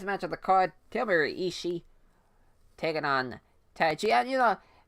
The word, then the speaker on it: Ishii: Tomohiro Ishii. I always say his name like that, Tomohiro Ishii, instead of Tomohiro Ishii, as that is the correct pronunciation now.